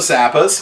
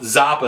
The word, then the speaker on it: Zappa: So let's bust out the Zappas. Well, Zapa is how you might pronounce it, but I pronounce it Zappa in Spanish cuz your Z is pronounced like an S.